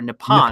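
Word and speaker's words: Nippon: nip nip is actually short for nepon which is the actual pronunciation of Japan but the thing is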